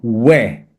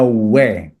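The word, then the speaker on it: οὐαί: Dalam bahasa aslinya celaka itu we, bacanya we.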